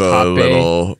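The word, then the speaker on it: rapé: But I also, Because we've talked about hape on this show before. Mm-hmm. Yeah, spelled rape. Yeah, it's spelled R-A-P-E, and it's pronounced hape.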